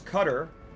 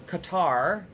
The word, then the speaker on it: Qatar: Leica Leica, your country, which is Qatar or which Americans mispronounce as Qatar that they're very strict anti-drugs rules, correct?